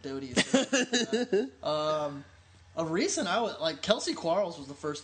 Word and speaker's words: Doty: I think it's actually pronounced Dowdy, but Doty.